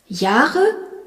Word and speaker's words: Jahre: Jahre, J-A-H-R-E, où l'on remarque que le H prolonge le A.